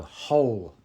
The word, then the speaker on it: whole: pronounced exactly the same it's a silent W so whole and whole one with a W